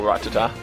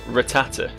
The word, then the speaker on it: Rattata: i'm pronouncing wrong is thinking back on the anime they call it like rattata right rattata the emphasis is in a different place like all my pronunciations